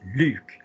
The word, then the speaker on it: Luke: yeah my name is Luke the vowel is ooh or in English Luke Luke into the throat okay I'll leave you